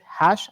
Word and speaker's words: Hage: Y muy agradecido, bueno, ustedes lo escucharon allí, Joseph Hash, ahora sí lo pronuncié correctamente.